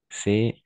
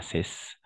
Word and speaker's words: ces: Au niveau de la prononciation, on va prononcer c'est, et dans ces cas-là, avec le E fermé. Ce. D'accord? Ce, ici, ce livre, ce livre, ce livre, et ces fleurs, ces fleurs, ces fleurs. D'accord? Pas cesse.